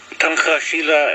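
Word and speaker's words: Tunkašila: And there's a little upside down C sound above the S, which makes it a sh, like she or shush.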